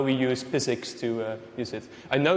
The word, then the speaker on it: PyZX: like how we use physics to use it i know it looks like pi zx but like it's pronounced physics because it's more fun